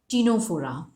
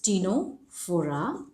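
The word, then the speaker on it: Ctenophora: the third one is tenofora again c is silent okay this is tino fora then the next one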